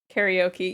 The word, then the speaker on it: karaoke: Interchange pronunciations on a whim, like with karaoke. Yeah, instead of karaoke. Karaoke is the anglicized version, but I prefer the Japanese pronunciation.